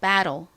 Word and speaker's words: battle: 읽어 보면 배이 됩니다 미국식으로는이 t 부분을 좀 과하게 꼬아서 battle battle 이렇게 끝부분을처럼 발음을 하기도 하는데요 굳이 뭐 battle 이렇게 발음하지 않고 그냥 담백하게 battle이라고 발음을 해 주셔도 좋아요 자 연습해 볼까요 battle